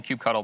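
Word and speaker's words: kubectl: submit this good old cube cuddle I'm on Team Q cuddle by the way for pronunciation there's differing opinions I believe cube cuddles the best one so we use Q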